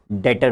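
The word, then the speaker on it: debtor: डेटर बन जाते हैं, बी साइलेंट, ठीक है, डेटर बन जाते हैं।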